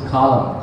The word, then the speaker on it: Kalam: I was looking at Kalam, you can also pronounce as Kalam.